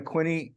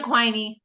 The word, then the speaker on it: Quiney: So I'd like to introduce Quinney. Am I pronouncing that right? Yeah, that's close enough. Sounds good. It's Quiney. Quinney, okay. Quiney.